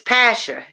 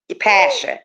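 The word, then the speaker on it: Pascha: So it's Pasha. It's Passion. actually Pasha. Yeah. The C is silent. I tell everybody it's like saying passion without the N, but it actually stands for Passover.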